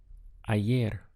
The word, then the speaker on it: ayer: to the word for yesterday is a year we have the sound of i and ayer means yesterday try to say yesterday